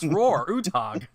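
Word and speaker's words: Roar Uthaug: meanwhile he's like but my name is roar roar ooh tog it's pronounced how a uncultured American would say it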